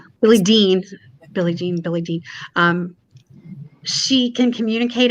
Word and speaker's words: Billie Dean: Billie Jean does when Billie Jean is it Billie Jean? I'm saying her name wrong. Billie Dean.